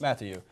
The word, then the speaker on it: Mathieu: Mathieu. Mathieu. Is that how you pronounce it? Yes. Mathieu.